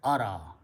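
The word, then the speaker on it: أرى: there, babe af'ala, and you add an alif in the beginning, and it is pronounced as ara.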